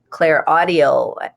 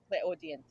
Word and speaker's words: clairaudient: said that you found out that you were, clairaudio, or however you said it. Is that correct? Am I saying it correctly? Clairaudio? Clairaudient.